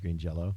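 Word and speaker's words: Green Jellö: the pro-liner notes that that it's still pronounced Green Jello yeah they had this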